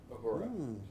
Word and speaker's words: Uhura: Uhura.